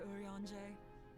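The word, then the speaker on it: Urianger: as if i could ever say no to urianje well that's why that's how you pronounce his name moon breeder is an accomplished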